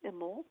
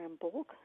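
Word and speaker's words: Imbolc: Well, the next sabbat is February 2nd and it's imul or embulk depending on how you say it.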